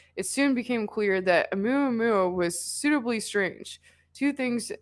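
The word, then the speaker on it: ʻOumuamua: This space anomaly was called Oumuamua, pronounced Oumuamua.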